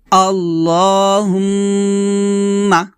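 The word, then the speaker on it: اللهم: আল্লাহুম্মা, আমার সাথে পড়েন। এখানে দেখুন আল্লাহ বলবেন না, বলবেন ল, লফজাল্লাহ মোটা করবেন। আল্লাহুম্মা, আবার বলেন আল্লাহুম্মা, হুম্মা এখানে অবশ্যই গুণনা করবেন, আল্লাহুম্মা এভাবে।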